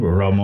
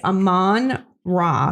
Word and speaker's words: Amon-Ra: What is his name? Ramon? I took great pleasure in the fact that I said it right. St. Brown? It's Amon-Ra St. Brown.